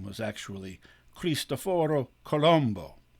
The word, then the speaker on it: Colombo: actually creased afford or Colombo which is how you say it in Italian by the way I